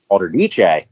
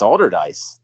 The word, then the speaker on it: Allderdice: that worship Wiz Khalifa I kept pronouncing it Alder niche and they were like the are you talking oh wow oh yeah it's older dice it's high school yeah